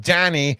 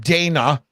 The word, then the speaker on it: Danny: It's pronounced Danny, not Dana. Okay, there's no A there. That's a clear I.